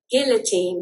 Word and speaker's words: guillotine: It's not ghoul. That's G. Guillotin. Okay. Gill guillotin. Guillotine. Guillotin. It's a guillotin. So in in in American guillotine. Guillotin. Okay. It's not gi.